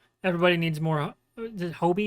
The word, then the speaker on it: Hobie: Hobie is how they say his name.